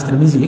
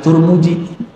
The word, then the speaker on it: Tirmidzi: Jangan-jangan dia enggak baca hadis Tirmidzi. Enggak bacanya. Cuma hadis Turmuji.